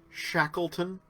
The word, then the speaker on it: Shackleton: It's pronounced Shackleton.